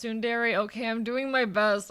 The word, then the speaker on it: Tsundere: It's pronounced Tsundere.